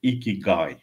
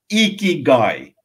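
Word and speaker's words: ikigai: width and it's lovely you cannot say you pronounce it iki guy you cannot say that without a smile and I want everybody that where you're sitting now smile and then repeat iki guy that's how you clean dirty God so it's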